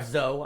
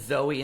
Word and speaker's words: Zoe: Um, uh, another, uh, sci-fi that I really like this year, Zoe or Zo, I'm sorry. I I pronounced it Zoe until I saw it. It's pronounced Zo.